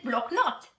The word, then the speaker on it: block notes: Block notice in realtà viene dal francese block note, ok? Quindi la pronuncia teoricamente alla francese block note, ma noi lo chiamiamo all'italiana block notice, mentre quella variante con